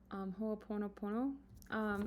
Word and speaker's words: Ho'oponopono: I don't want to bash how this is pronounced, but I want to say it's Ho'oponopono.